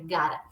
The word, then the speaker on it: gotta: Lembrando que esse gotta, a gente vai pronunciar assim, o gotta, é para falar gotta mesmo, tá? Não é gota, é gotta.